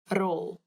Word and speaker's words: rol: Rol. Rol. Roll. Die pen het gerol. The pen rolled. This one is funny because roll, all you have to do is roll your tongue on your mouth, so it makes the r sound like before.